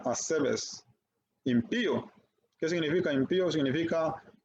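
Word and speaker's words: ἀσεβής: los impíos esto también Es un término griego que se pronuncia asbes impío Qué significa impío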